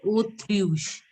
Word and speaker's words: autruche: So it is pronounced as autruche. Autruche. O. AU is, yeah. AU will be pronounced as O.